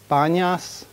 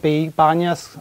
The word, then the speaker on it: Banyas: towns, cities in Palestine, they don't really pronounce the P. They turn it to a B. So you have like Nablus would be like Naples. So they have like, instead of Panaim, they have Banyas.